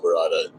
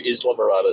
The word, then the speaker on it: Islamorada: Well, first I want to apologize for the gringo pronunciation of Iraada. I agree. Islam Marada sounds much much better.